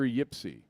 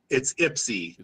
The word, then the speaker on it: Ypsi: It's pronounced with an I.